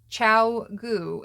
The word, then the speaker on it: Chiao Goo: of you who have been wondering it is pronounced Chow goo and I have been told it translates approximately